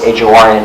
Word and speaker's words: Horne: The joke I like, Phil, that says is, Tom Horn is Horne, the E is silent.